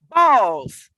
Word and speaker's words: Bawls: Come on, License Roy, explain what Balls is. Balls.